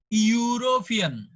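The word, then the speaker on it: European: কিন্তু এটার উচ্চারণটা হচ্ছে ইউ, ইউরোপিয়ান।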